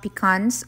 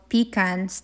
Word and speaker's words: pecans: 1/4 cup ng chopped pecans. Or peacans. Depende sa pronunciation niyo.